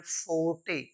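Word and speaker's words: forte: ओ आर टी ई इसको हम पढ़ते हैं फोटे फोटे फोटे का मतलब होता है वंस ओन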